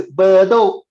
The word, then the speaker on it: Bedok: It's pronounced as Bedok. Bedok. Singapore pronounced Bedok.